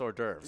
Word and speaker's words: hors d'oeuvres: and then I was like, oh, it's just hors d'oeuvres.